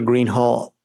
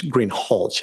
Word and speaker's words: Greenhalgh: Officer Greenhall, I believe I'm mispronouncing your name. It's Greenhalgh, isn't it?